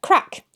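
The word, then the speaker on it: craic: Okay, I know how to pronounce this one. So, without a fada, crack, mirth or merriment.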